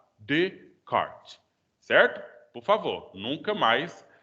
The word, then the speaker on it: Descartes: E, enfim, Descartes. Então, essa palavra seria separada, né, Descartes. Aí junta tudo, aí você pronuncia ainda como se fosse separado. Descartes.